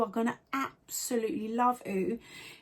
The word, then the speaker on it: OOOOO: honest honest as always when i first heard of the app i wasn't quite sure how it's pronounced and then i found out it was ooh and then i was